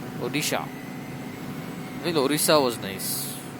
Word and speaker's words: Odisha: How do you pronounce it right? Odisha.